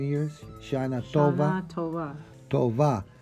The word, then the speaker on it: Tova: Tova. Sounds more like a V than a B.